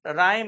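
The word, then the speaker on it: rhyme: ठीक है, question number 23 देखिए, विदाउट राइम और रीजन, विदाउट विदाउट राइम और रीजन, इसको राइम पढ़ते हैं, एच साइलेंट होता है, विदाउट राइम और रीजन, इसका मतलब होता है यूज नो लॉजिक और नो सेंस।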